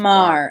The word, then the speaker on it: Maher: Marr, because the same Bill Maher is spelled exactly the same way, so it's Marr.